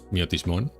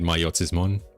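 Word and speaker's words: Myotismon: I don't know how to pronounce this in English, because in Spanish it was Miotismon, just Miotismon. But in English I've heard people pronouncing it Mayotismon. I don't like Mayotismon, I like Miotismon more, but yeah.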